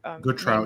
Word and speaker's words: Gautrat: What is that how you pronounce her? Gautrat, yeah.